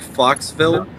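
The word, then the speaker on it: Fauxville: That Could That Could that could also be pronounced like foxville I just foxite terrible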